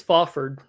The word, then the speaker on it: Fafhrd: Fafhrd tells the reader how to pronounce his own name. See, you say I still say Fafhrd. He says it's Fafhrd.